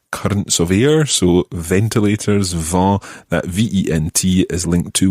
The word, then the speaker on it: vent: that is now as we know french spelling can be quite complicated because there's lots of silent letters in french and if you've got the word va then it's quite difficult to identify how you would write that in actual fact it's spelled v-e-n-t and v e n